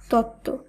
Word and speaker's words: তত্ত্ব: যেমন উজ্জ্বল, সান্ত্বনা, মহত্ব, দ্বন্দ্ব, উচ্ছ্বাস, তত্ত্ব। লক্ষ্য করুন, এই প্রত্যেকটি শব্দেই যে যুক্তবর্ণ রয়েছে, শব্দগুলিকে যখন আমরা শুদ্ধভাবে উচ্চারণ করছি সেখানে কিন্তু বফলার উচ্চারণ বাদ দিয়ে শব্দগুলিকে উচ্চারণ করতে হচ্ছে।